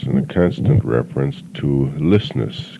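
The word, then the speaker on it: Ljøsnes: and showed me that it's spelt what I would say is L-J-O with a line through it, S-N-E-S, pronounced the same way, but spelt so differently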